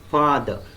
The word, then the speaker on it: father: is labiodental, that is, it is pronounced with lower lip and upper teeth, but many Marathi speakers will pronounce it with two lips like this, father. It should be father.